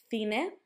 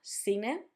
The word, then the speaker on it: cine: Casa, barco, cuna, with the sound K, cerdo, cine, or cerdo, cine, with the sound Th, or S, and queso, quince, with that sound K.